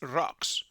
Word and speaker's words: Rox: But in the anime, here in the original version, they pronounce it with R. By the way, the kanjis of the name in the translators result with an N in X, so it is Rox, R-O-X, and this is the way we're going to use.